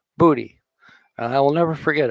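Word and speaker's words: Bodhi: pirate spells it it's b-d-h-i but it is pronounced booty and i will never forget it now that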